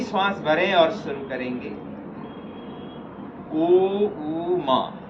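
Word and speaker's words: ॐ: ओ ऊ मा 3 शब्द इसमें, 3 साउंड इसमें उच्चारण होते हैं। ओ के उच्चारण के समय में मुंह खोल कर रखेंगे। ऊ के उच्चारण में धीरे से मुंह गोल बनाते हुए माँ के उच्चारण के समय में होठ मिले हुए रखें, बंद रखें।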